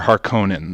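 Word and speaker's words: Harkonnen: up pronunciation earlier um do you pronounce it harinen or harkonen that's apparently a big thing too okay well the movie I think is Harkin in that's the way it was said I believe in the movie I don't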